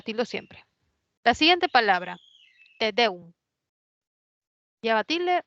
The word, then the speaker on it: tedeum: La siguiente palabra, tedeum. ¿Lleva tilde o no lleva? ¿Qué No dicen lleva. muchas? No lleva, excelente. Es una palabra que es aguda, te deum, ¿no?